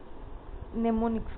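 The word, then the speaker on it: mnemonics: अच्छी माने हमर एटी एम टा ताको माने साइलेंट रहइबो नेमोनिक्स कहबा एसोसिएटेड विथ एटा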